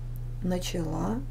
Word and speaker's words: начала: спала спали начать начал Начала Начала начали понять понял поняла поняла поняли Запишите глагол прошедшем времени мужском женском и среднем роде и во множественном числе обозначите ударение запомните произношение глагола в этих формах Итак запишем лить тире